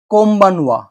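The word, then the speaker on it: こんばんは: এন যদি বসানো হয় তাহলে এন এর উচ্চারণ ম শব্দে পরিণত হয় সেই অক্ষরটি হল বি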